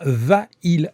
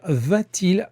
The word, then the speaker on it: va-t-il: Alors évidemment, on ne peut pas dire va-il à la piscine parce qu'on ne peut pas le prononcer. On va rajouter un t pour prononcer correctement. Et on va écrire va-t-il à la piscine.